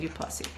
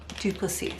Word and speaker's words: Duplacy: And then I also got a few special things from Jackie Dupli. She Duplacy. Sorry, I've been saying her name wrong this whole time and